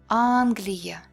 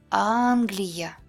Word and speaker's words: Англия: Unstressed Е and Я sound like E, like in the word seek, E. In any unstressed syllable, but not at the end of the word.